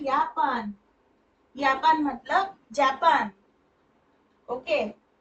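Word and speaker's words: Japan: से चालू होता है यापान यापान मतलब जापान ओके तो यट है ना जे मतलब यट होता है ना जे को यट बोलते हैं जर्मन में इसलिए इसका उच्चारण यापान हो गया ओके फिर आगे का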